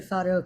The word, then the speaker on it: fado: I think it's pronounced fado. Yes. Oh, yes. I've been to fado concerts, been to fado restaurants, been to, yeah.